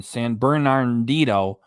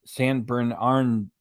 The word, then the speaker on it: San Bernardino: the McDonald's Brothers in San bernardito I've been saying it wrong for years it's San Bernardino you know what you